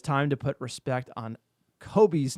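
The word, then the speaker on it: Kobbie: I get it with the loanees or transfers, but it's time to put respect on Kobe's name It's Kobe, like Robbie, not Kobe.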